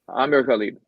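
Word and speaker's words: Amir Ghalib: one of my Schmucks um which is uh Amir galib I'm sorry I don't have the BBC pronouncer how does he pronounce his name it's Amir khb Amir khib okay Amir khib mayor of hamic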